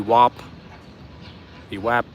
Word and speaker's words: VWAP: how to pronounce vwap the WAP the vwap I think I actually interchange it without even realizing I'm doing it depending on how I